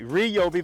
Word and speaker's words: Ryobi: you'll be okay I'm gonna say it right Ryobi battery um simply Clicks in this thing has